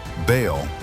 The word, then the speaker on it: Baal: Baal, pronounced Baal, was the storm God, the lord of thunder, lightning, and rain.